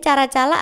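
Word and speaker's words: Caracalla: yang bernama Kaisar karaakala caraacala tulisannya bacanya cara-cala atau kara-ka Nah itu deh pokoknya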